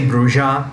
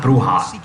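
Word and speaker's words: Brujah: used to think yeah i'm gonna say bruja because it's not bruha bruja is the pronunciation of the spanish word for witch which has nothing to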